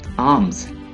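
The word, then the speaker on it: alms: आर्म्स, खैरात, आर्म्स खैरात। एल ये अल्फाबेट एल है और ये साइलेंट है।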